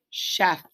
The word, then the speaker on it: chef: the cna here say so instead of ch it's the sh it's got it blended out chef and the last one